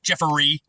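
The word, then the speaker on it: Jeffery: j e FF e r y three syber syllables Jefferey Andrew a n d r e w s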